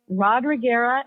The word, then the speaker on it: Rodriguera: It's Rodriguera, and I'm still learning how to spell it.